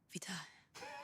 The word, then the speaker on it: Vite: Vite, French word for quick, pronounced vita, like vite.